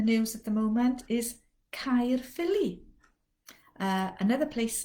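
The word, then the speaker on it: Caerphilly: word my my my this combination of vowels gives us the i sound you've bound to have seen it in so many place names uh one place name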